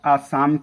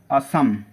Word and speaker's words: असम: तो आप आसाम की असम प्रोनाउंसिएशन क्लियर करिएगा, असम, ठीक है ना।